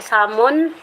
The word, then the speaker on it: salmon: Yung ano ba, Silent L ba yan, Admin Basti? Salmon?